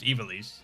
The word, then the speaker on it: Ivalice: And it's pronounced Ivalice.